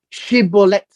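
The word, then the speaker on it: shibboleth: is uh it's uh she bullet and this she bullet is how the people from Gilead would say it's a she bullet and that would be the emphasis of the sh but if this person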